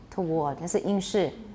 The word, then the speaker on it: toward: between british and american in british it is toward meiotois towards me everyone toured torr no w toward no w at all male w toward good